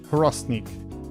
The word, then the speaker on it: Hrosnik: We pronounce our H's in Croatia. Hrosnik.